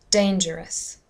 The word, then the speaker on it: dangerous: about the next word dangerous dangerous again it's the first syllable dangerous it's not dangerous or dangerous dangerous that's correct okay the